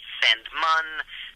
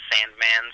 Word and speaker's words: Sandmann: it's a family name it's not spelled the way it sounds it's it's it's German it's technically pronounced sand mun there's two NS at